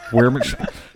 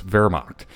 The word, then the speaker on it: Wehrmacht: Wehrmacht. It's German. W sound like V's. Wehrmacht.